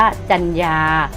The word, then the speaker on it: จรรยา: พรรณนา อ่าน ว่า พรรณนา สังเกต ว่า พยายาม ที่ ใช้ รอ หัน นะ คะ ว่า อ่าน ออก เสียง เหมือน มี ไม้ หัน อากาศ กับ ตัว สะกด ของ คำ นั้น อ่ะ ลูก นะ คำ